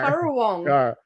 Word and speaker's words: Currawong: Currawong. It shouldn't be spelled that way. Hey, not how you say curry. And it's spelled CURR.